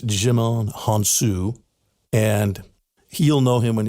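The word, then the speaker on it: Djimon Hounsou: know him to see him i want to pronounce his name right it's jimon hansu and he'll know him when you see him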